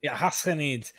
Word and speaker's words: Ghassanids: It's like, it's not a sound you have in the English language. Yeah. But you pronounce it way deep, like the French would pronounce their Ghassanids. Ghassanids.